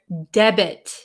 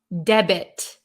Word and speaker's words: debit: the t is silent in this word debit the t is pronounced okay oh hello from